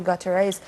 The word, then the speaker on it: Guterres: objection to the decision by Antonio Guterres, or Guterres. Antonio Gina, Guterres, would you please help me with that? Am I pronouncing his name right?